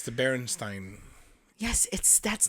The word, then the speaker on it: Berenstain: But it's Berenstein is the way that it's pronounced. I was looking for a way for it to pronounce it. And that's probably why people have put an EI. That's probably why, because that's how you would say Stein Yeah.